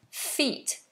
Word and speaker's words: feat: it was a great feat to achieve notice this word sounds exactly the same is this word feet and feet feet feet